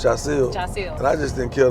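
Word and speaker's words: Jasiel: teacher say Robinson yeah or they cop me jel they couldn't say Jil or they they couldn't say it just all the kids pronounce it as J it's Jil though it's Jil and I just didn't care to keep correcting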